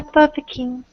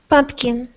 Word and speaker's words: pumpkin: say it again um a pumpin almost pumpkin pumpin just like pump I have to pump the gas at the gas station pumpkin that is pumpkin I'm sorry about my